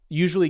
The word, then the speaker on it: usually: Well, usually can have 3 syllables though, so maybe that's what it's going with. Usually is an interesting word because it can have either 3 or 4 syllables.